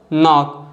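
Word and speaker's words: knock: जो लेटर के है अगर वर्ड के स्टार्टिंग में आ रहा है और एन के पहले आ रहा है तो के साइलेंट होता है, जैसे कि नॉलेज, नाइफ, नो, नी और नॉक।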